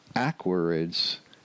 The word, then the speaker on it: Aquariids: like Gemini but Aquarius going from Aquarius where the accent is on the second syllable to the awkwards accent on the first syllable that's a little bit